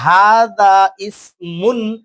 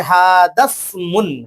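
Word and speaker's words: هذا اسم: এটা বলতে যাই যে হাদা ইসমুন, তাহলে আমার পড়াটার মধ্যে ভুল চলে আসলো। তাহলে উচ্চারণটা কি হবে, হাদা, হা এখানে সিনের সঙ্গে লাগবে, এই আলিফ হামজা ওয়াসাল আলিফটা পড়ে যাবে হাদাসমুন, হাদাসমুন।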